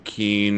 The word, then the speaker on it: Kuehn: That it is a German last name, so Kuhn is correct. However, uh, brief family history here, we changed the pronunciation to Keen.